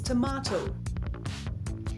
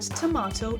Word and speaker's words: tomato: British English, pronounced with an R sound like in father, so it's tomato. Some speakers might also say tomato, but tomato is very common. For instance, I love adding fresh tomato to my salads. American English, typically pronounced with an A sound like in face, so it's tomato. Again, some speakers might say tomato, but tomato is most standard.